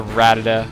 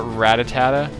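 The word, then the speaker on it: Rattata: this is a ratata I used to always call it ratatata and the reason why is I think it's because the double T maybe want to pronounce both both T's really hard cuz you would say rat Tata ratata and then it kind of comes out like ratatata but I don't know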